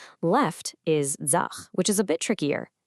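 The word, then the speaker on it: ձախ: So right is aj, and it's pronounced just like it looks, aj. Simple, right? Left is zach, which is a bit trickier.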